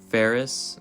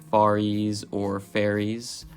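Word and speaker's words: Faries: wheel or ferris bueller my last name is actually spelt f-a-r-i-e-s and most people do mispronounce it by saying either far east which is totally understandable due to the spelling and i have an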